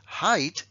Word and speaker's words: height: lo voy a pronunciar altura height peso weight perdón sí height se pronuncia I sin embargo peso se